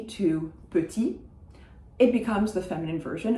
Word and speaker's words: petit: But, for instance, the word petit, which if you know English, you probably know, that final T is not going to be pronounced.